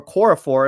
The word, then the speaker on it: Okorafor: And then you have Chukwuma Okorafor, or Okorafor is how you pronounce his name.